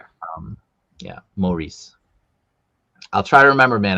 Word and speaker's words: Maurice: Uh it's pronounced Maurice. All right, you guys remember this? Maurice. Maurice. If I say Maurice or Morris, correct me just like I correct people with Maex, please.